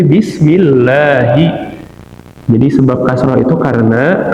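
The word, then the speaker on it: بسم الله: Jadi enggak mungkin kita baca bismillahu, enggak bisa, tapi bismillahi.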